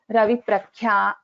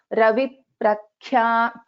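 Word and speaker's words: रविप्रख्या: So when we pronounce this, we will not pronounce this plainly as Ravi Prakhya. No, Ravi Prakhya. No, that is not correct. The way we pronounce this is Ravi Prakhya, Ravi Prakhya. So Ravi, you can hear that bit of it sound over there.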